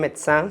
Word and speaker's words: médecin: Puede ser muda, como en el caso de médecin, samedi, o puede ser grave, boulangère, première.